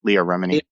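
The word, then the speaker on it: Leah Remini: name uh Leia Remeny is that how you pronounce it Leah Leah yeah Leah Remeny said that John Travolta has uh I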